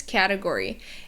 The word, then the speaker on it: category: And here, what's tricky is the T sound because it's not an actual T sound. It's like a flap T or the American T, but it's kind of a D sound. So it's a category. Muted D even. You can barely hear it.